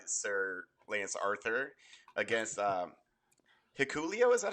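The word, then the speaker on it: Hikuleo: was defended by Sir Lance Arthur against um hulio is that how you say his name uh yeah hakalo hakalo and he's he's the one who came out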